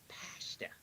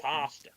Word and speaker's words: pasta: It's not pasta. It's pasta. Not pasta. British slash American English is a wonderful thing.